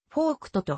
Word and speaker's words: Voigt: の項を持つなおドイツ語では名字はフォークとと発音される当時の東ドイツ